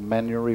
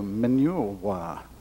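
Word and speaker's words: Manurewa: from my hyung and a little place called men yori where that is spelt am I in you are a WI so when people read it they go mineral wha what kind of towners manual wha just like it sounds than your wha and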